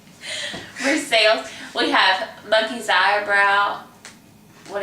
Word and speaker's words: Versailles: We pronounce every letter. Versailles.